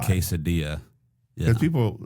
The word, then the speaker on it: quesadilla: The two L's are the Y sound. Right? Yeah. The J is the Y. Quesadilla.